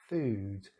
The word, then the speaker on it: food: So even though these two words are look very similar, the double O is very different. Here it's short. Foot, ut. Like here, book, ut. Food, oo. And we saw this sound before. It's this sound up here again. This oos, loose, choose. As I will show you now. There you go. So that's a long vowel sound.